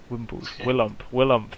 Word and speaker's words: Willump: If you can't remember, just remember Willy Pump, and then just take out that middle syllable. Wait, Willump. Willump. No, Willump. Yeah, but there's like 2 syllables you're taking out. Willy Pump. Then just take out the P, alright? Yeah, we can't call him Williamp. Without the P.